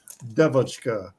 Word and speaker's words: DeVotchKa: yeah, So yeah, the Russian pronunciation would be more like Devotchka, and it comes from